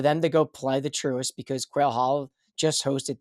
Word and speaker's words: Truist: The Philly Cricket just hosted the Truist. Is that how it's pronounced?